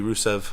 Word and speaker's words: Rusev: It's pronounced with an E. Rusev.